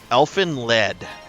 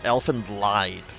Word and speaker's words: Elfen Lied: Elfen Le or Elfen lied. It's got a German pronunciation to it.